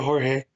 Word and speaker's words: Jorge: Constantly correcting them into Jorge.